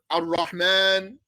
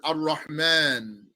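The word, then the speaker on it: الرحمن: any harakat or anything, you do not write the alif. If you see it written, it's wrong, actually. It should not be written with the alif. But you pronounce that alif.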